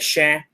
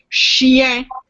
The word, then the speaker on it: chien: You hear the I? Chien. Chêne is an oak tree. You hear the difference? Chien, chêne.